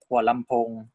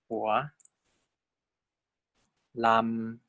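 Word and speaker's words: หัวลำโพง: You probably have been to this place called Hua Lamphong, right? Hua Lamphong. So the way we transcribe Hua Lamphong is like that. Hua Lamphong.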